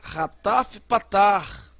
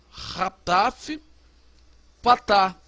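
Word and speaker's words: חטף פתח: Rataf Patar. É um A reduzido. Você vai pronunciá-lo com som de A. Tá vendo? Bem rápido. A.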